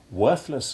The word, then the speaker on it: worthless: More complicated still are the words deriving from worth, for while worthless and worthwhile retain a soft th sound, it becomes hard in worthy and unworthy.